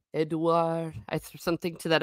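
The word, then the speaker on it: Édouard: I know in French it's Edouard.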